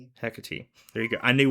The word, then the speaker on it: Hecate: The concept as far as I could find probably started back in Greece where um Hermes and Hecat Hecat there you go.